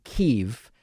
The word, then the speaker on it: Kyiv: The backstory on this and the reason why we now say Kiev and spell it Kyiv is that much like in, what's a good example?